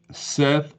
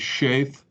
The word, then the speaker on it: Seth: Seth is Sheth.